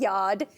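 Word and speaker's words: Yawd: Yeah, we say Yod. You're saying it right. Like backyard? Backyard? Oh, like a yard, man. You know, Yeah. It's like it's patois for home. Okay.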